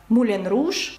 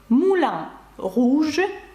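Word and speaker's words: Moulin Rouge: і згадаємо відоме Кабаре яке ви знаєте як муленруж французькою це Муля руж і ви бачите руж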